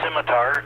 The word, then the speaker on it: scimitar: Wing that's interesting uh by the way it's pronounced simitar I know that because of my geeky uh